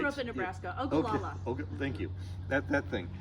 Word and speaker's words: Ogallala: Ogallala.